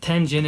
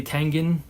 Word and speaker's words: Tengen: And yes, Tengen is how I say it. Some people say Tengen, I think. But Tengen, I think, is the proper way to say it because a little piece of history here.